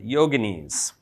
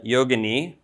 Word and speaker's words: yogini: And these Siddhas often had consorts, partners, who were always called yoginis. So there's some confusion on this point, because in modern parlance, people use the term yogini, usually mispronounced as yogini.